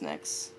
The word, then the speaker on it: Nyxe: Is it just Nyx? Just Nyx, but I Okay. don't really mind how you pronounce it as long as it's not Nyx.